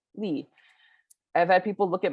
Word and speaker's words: Lee: And I'm like, as in Derek and Jackson. like youth, and it's Lee, like Robert E. Lee.